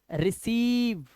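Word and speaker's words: receive: तो हम इसे पढ़ेंगे रिसीव, आई का कोई लेने देना नहीं है, बट है कंसीव, है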